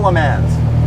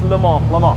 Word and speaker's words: Le Mans: silence so i'm saying it right it's not le mans no because like you're american salem and i'm like am i wrong everyone's wrong it's le mans i say it right absolutely i don't pronounce